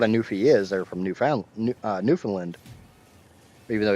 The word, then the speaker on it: Newfoundland: They're from Newfoundland. Even though if you phonetically sound out the name, it's Newfoundland. But it's from what I've always been told is pronounced as Newfoundland.